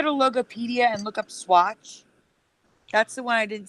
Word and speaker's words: Swatch: Yes, Swatch. Swatch, how you spell it? SWATCH. Swatch. It's like watch with an S in front of it.